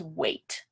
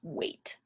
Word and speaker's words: weight: weight kind of confusing it has a gh in here but you'd pronounce it as weight so the gh is silent it doesn't make a sound weight so weight can mean